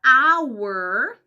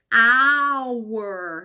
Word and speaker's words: hour: A palavra hour se escreve com H, mas esse H não tem som de R forte, não tem som de consoante, tem som de vogal. Por quê? Porque esse H é mudo, a próxima letra é o O, hour. Imagina como se essa palavra estivesse começando com A.